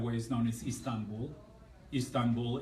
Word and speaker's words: Istanbul: Istanbul is a Turkish mispronunciation of Constantinople.